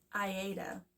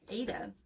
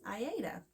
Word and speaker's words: Aida: It's Aida is how you pronounce it. A lot of people say Aida, which is fine, to each his own.